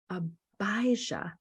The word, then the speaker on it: Abijah: I'm struggling with it yeah it's AB abijah long eye long eye and it's the organization is called abijah on the backside yes